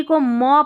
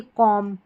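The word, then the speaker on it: comb: एमबी एमबी को म पढ़ेंगे। बी यहां पर क्या है? साइलेंट देखिए कॉम कॉम।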